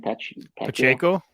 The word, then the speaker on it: Pacheco: Pacheco.